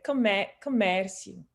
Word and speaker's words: comércio: It's exactly the same thing, but the E is open. I'm gonna guess. Okay, comércio.